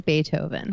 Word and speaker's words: Beethoven: you are both correct it is Beethoven extra points for gritty for pronouncing it the corrected German way so Beethoven was promptly